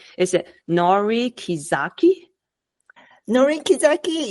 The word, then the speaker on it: Norie Kizaki: Norie Kizaki, yes, and Norie Kizaki is correct pronunciation in Japanese.